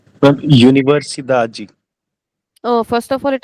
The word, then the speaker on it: universidade: We will try to identify the second last syllable, and we have to stretch only the second last one.